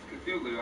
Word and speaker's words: Cthulhu: call of the feeling hp has stated that there isn't actually a correct way to pronounce cthulhu as the human tongue can't make the noises needed for its accurate title that's pretty cool so maybe if one day you're choking on some vanilla pudding and start coughing you might just say stain by accident the most popular pronunciation is how i'm saying it now cthulhu is also known